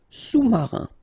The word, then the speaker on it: sous-marin: Marin, alright, and remember, sous, okay, final S not pronounced, so S-O-U, sous, sous-marin.